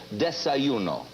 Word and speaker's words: desayuno: When a Mexican has it in the morning, he calls it, it's D-E-S-A-Y-U-N-O. I guess it's desayuno. Desayuno. What do you call it? A Mexican has it in the morning, he calls it desayuno.